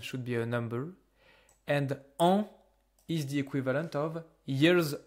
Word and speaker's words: an: It's pronounced an. That's only one sound. You don't care about the N, you don't care about the S, you just pronounce it an. An is a sound that comes from your nose.